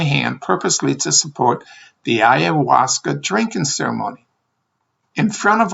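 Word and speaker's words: ayahuasca: He replied that we came here to drink the owasa. I said, "What?" Unable to pronunciate the word ayawasa.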